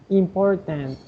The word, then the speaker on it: important: Important, and the T at the end, la T al final, important.